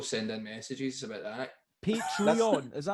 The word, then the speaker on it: Patreon: You said patron there. Patrons, yeah. That's going to freak people out, man. People send in messages about that. Patreon, is that how you say it?